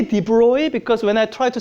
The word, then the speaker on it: de Broglie: I don't know how to pronounce this. I say "de Broy" because when I try to say de Broglie, I can't really say it right.